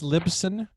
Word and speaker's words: Libsyn: one place libsum or something how do you spell that that's lipson it's short a shortened version of liberated syndication